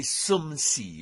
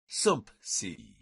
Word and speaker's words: sumpsi: It's hard to say sumsi without inserting a P, sumpsi.